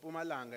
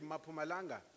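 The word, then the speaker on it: Mpumalanga: remember many discussions about pumalanga and the english speakers will call it mapu malanga because they have a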